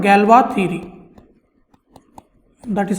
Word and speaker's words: Galois: So the course is called Galois theory. That is how you pronounce this name, Galois. It is named after a French mathematician. His name is Évariste Galois and he lived in the 19th century and